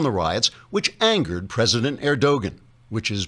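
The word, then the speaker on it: Erdoğan: turkey's president recep erdogan pronounced erdogan because the g is silent as in angster until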